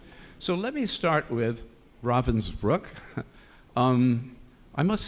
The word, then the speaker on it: Ravensbrück: and The Sisterhood of Ravensbrück, I learned tonight, by the way, that's the pronunciation, Ravensbrück, are three of the best books I've ever read in my life.